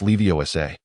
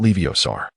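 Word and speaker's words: Leviosa: It's Leiosa, not Leiosar.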